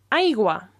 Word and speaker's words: aigua: Water is aigua.